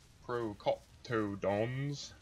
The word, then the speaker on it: procoptodons: when you've tamed it so the pro procoptodons procoptodons that's how you say it dry pouch makes